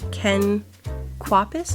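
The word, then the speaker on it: Ken Kwapis: It was uh directed by Ken Quapus.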